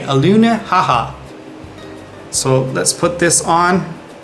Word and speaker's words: Alenuihaha: Once again, to say it, let me just spell it out first. A L E N UI H A H A. Aluna haha.